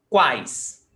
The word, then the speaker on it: quais: Por exemplo, quais? Quais? Semivogal, vogal, semivogal. And we never separate tritongo. We will never separate them. So they will always come together. That's why quais is only one syllable.